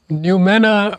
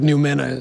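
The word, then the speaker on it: noumena: new mana for many viewers this might be a new word let me start by spelling it out it's spelled n-o-u-m-e-n-a it's fascinating when you discover what numina is let me start with a word that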